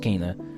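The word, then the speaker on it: Kena: um Kaa BR spirit I thought it was pronounced Kenna so it's pronounced Kaa I want wolf amongus 2 to come out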